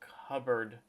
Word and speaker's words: cupboard: It has a silent P because you say cupboard.